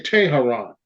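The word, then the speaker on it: Tehran: is today you know T I should say Taran the capital of Iran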